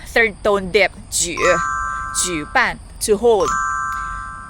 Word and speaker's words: 举: 需要学习 Again, 我需要学习 Finally, 举 equals like J-O-O. 举 third tone dip. 举办 to hold. 举 equals like J-O-O. 句 equals like J-O-O falling tone. 句子 or sentence. Repeat after me. 举办 fourth tone.